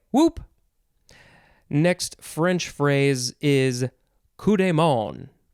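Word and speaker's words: coup de main: next french phrase is kudemon kudemon ku dey or da and then m-a-i-n in english it looks like maine but it is pronounced more like you don't really say the end too much noun from 1758 it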